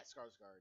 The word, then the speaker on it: Skarsgård: pronounce his name? Yeah, Skarsgård.